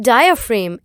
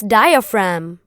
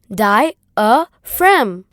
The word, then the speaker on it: diaphragm: Not diaphragm, it's diaphragm. And it is pronounced as diaphragm.